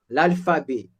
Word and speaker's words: alphabet: L'alphabet, I have T at the end. That T also is silent.